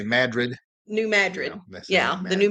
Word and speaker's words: New Madrid: People that aren't from here I hear them say New Madrid, but the people that are locals say Madrid.